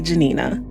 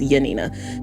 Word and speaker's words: Janina: And there is one nun, Sister Mary Janina. Sorry, I think it's pronounced Yanina.